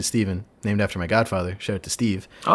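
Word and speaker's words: Stephan: It's spelled with a PH and an A. So you'd think it was Stefan, but it's actually Steven, named after my godfather.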